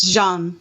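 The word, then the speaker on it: Jeanne: You know, it's not pronounced John, right? It's Jean, Andrew.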